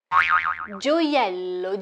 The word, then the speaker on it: gioiello: Gioiello, gioiello, gioiello. If you find this word difficult to pronounce, there's a trick.